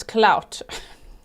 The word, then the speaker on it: Cloud: Not Cloud, it's Clout.